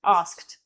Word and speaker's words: asked: So if you just go straight for a T, it's just asked. Asked. And it and and when it comes out like a T, then it's very very clear to the ear as well.